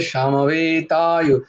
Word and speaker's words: সমবেতা: ধর্মক্ষেত্রে কুরুক্ষেত্রে সমবেতায়, আচ্ছা সমা বেতা তো নয়ই, সামা, এই যে যখনই বয়ের উচ্চারণ করবে দুটো ঠোঁট যেন একসাথে না হয় কখনো, দেখো বাংলা বয়ের উচ্চারণ হবে দুটো ঠোঁট একসাথে হয়, সংস্কৃতে ওয়া হয়, ওয়া ব হয় না।